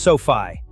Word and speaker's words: SoFi: Coming in at number five, we have SoFi Technologies pronounced SoFi.